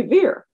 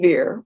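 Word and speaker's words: Vere: bless you fair shrew fair and veer were similarly pronounced she also called is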